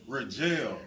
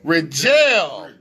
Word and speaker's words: Ridgel: pronouncing your name wrong so you got to pronounce it correctly for me what about my man in the building rajell rajell that's kind of fly though yeah oh you